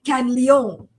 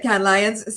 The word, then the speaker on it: Cannes Lions: I always want to say Cannes Leon. Pronounce it fully in French. She has spoken at Cannes Lions, South by Southwest, Brand